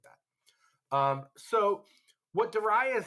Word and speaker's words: Darius: it looks like Darius Darius is how you would say it like the Americanized version of the name but in ancient times you actually pronounce this name Darius so Darius is the